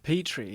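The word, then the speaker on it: Petrie: Petri.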